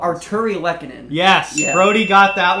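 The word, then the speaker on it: Artturi Lehkonen: The good thing about this one is you can sound it out. It is pretty much how it is spelled. Arturi Lehkonen.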